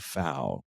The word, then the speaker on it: Pfau: this more closely is Wade foul Wade is his last name is spelled pfau and he is one